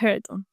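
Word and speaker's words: Hareton: Heron se pronuncia Heraton, pero ¿cómo que le desagrada?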